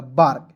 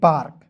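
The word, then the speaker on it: bark: ए के तुरंत बाद आर आया तो ए का उच्चारण आ के रूप में करेंगे। ठीक है? और के को क लिख दीजिए और आर है तो रेप लगा दीजिए। हो जाएगा बार्क। बी ए आर के बार्क ठीक है जी समझ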